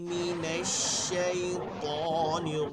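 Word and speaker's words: مِنَ الشَّيْطَانِ: ইন্নাকা হামিদুম মাজিদ ইন্নাকা হামিদুম মাজিদ আউজুবিল্লাহি মিনাশ শাইতানির রাজিম আউজুবিল্লাহি মিনাশ শাইতানির রাজিম আউ আউ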